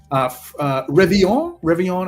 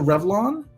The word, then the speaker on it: Revillon: Revillon as opposed to Revlon.